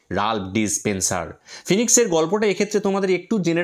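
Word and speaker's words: phoenix: Mister Raj Spencer ফিনিক্স ারো from Jimmy Valentine's essays.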